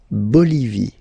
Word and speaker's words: Bolivie: Okay, final E not pronounced. La Bolivie.